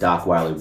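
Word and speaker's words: Dockweiler: And Docweiler Beach rhymes with Rock rhymes with the black person vision of Rottweiler cuz black people do not know how to say Rottweiler.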